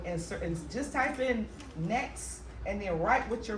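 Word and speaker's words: NAICS: you're going to get this list and your next code and that's what we need to discuss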